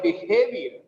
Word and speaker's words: behavior: With the word behavior, the second syllable is stressed.